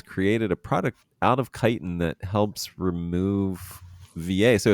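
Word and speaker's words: chitin: talking fungus shoot uh oh how do you pronounce it's kiten right c h i t n yes yep kiten kiten okay because I for a long time pronounced it wrong it's chitten yep that sounds more like uh uh sounds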